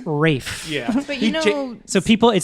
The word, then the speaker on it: Ralph: listening when it's right it's written Ralph but it's pronounced Rafe yeah so people it